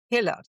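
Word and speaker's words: Huelle: it's spelled hue e l e but it's pronounced hiller.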